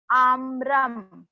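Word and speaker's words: आम्रम्: आम्रम, मैंने आम्रम म नहीं कहा, म कंप्लीट नहीं बोल रही हूं मैं, हाफ म है वो.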